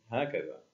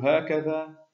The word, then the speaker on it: هكذا: أقل من حروفها المنطوقة، فكلمة هكذا كتبت بأربعة أحرف فقط، في حين أننا ننطقها بخمسة أحرف، وكلمة هذا كتبت بثلاثة